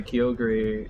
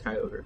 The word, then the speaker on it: Kyogre: Kegree is how some people pronounce it because they're insane and it's like, come on, it's Kyogre.